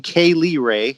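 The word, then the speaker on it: Kay Lee Ray: to each other on purpose and they're like pronounce it now yeah kylie ray and then number eighteen k lee ray exactly yeah from nxt uk nxt uk uh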